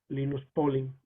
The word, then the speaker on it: Linus Pauling: que tenía una intuición química muy, muy grande, Linus Pauling, en realidad es como se pronuncia, y él desarrolló por primera vez la